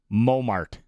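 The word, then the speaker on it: Montmartre: Momart. Oh. Good luck. Good luck. Because there's a silent E in there at the end.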